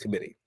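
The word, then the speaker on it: Qommittee: Um but it's pronounced committee.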